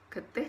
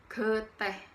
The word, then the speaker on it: getih: Getih dalam bahasa Madura artinya peduli. Yang pengucapannya bukan getih, tetapi geteh.